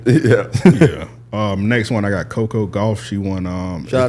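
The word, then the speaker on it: Coco Gauff: Next one, I got Coco Golf.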